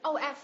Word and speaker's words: of: V âm phụ âm cuối là v, chứ không đọc là ơ, cũng không đọc là up em nhé.